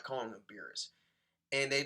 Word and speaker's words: Beerus: Like when I saw this episode, I thought they were gonna pronounce him as Bills, but it seems like the translators really wanted to call him Beerus, and it seems like everyone wants to call him Beerus too, because like what the